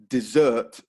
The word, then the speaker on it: dessert: of sweet dessert so the only difference between the two words is the stress desert first syllable dessert second syllable so stress is really